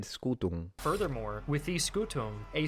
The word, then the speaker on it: scutum: M, not a problem, but in classical the M should be almost non-existent. It should be scutum, just mildly nasalized, and he did it right.